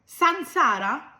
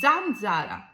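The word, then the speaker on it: zanzara: এর পরের শব্দটি যাক কি বললেন সানসারা এটার উচ্চারণ হবে জানজারা এখন প্রশ্ন হলো ইতালিয়ান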